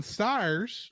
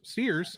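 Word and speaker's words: Stiers: marara in Kingdom Hearts David Ogden styes steers I said his name wrong who was kamaji here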